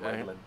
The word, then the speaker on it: Maeglin: Elvish Maeglin, pronunciation, please. yes. Maeglin.